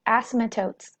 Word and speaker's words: asymptotes: be looking at the asymptotes of the exponential functions. So that's that word I mentioned in that last video. If you didn't know, the P is silent, you do not pronounce it.